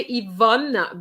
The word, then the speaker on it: Yvonne: You can say Yvonne because you have double N. It's like bonne.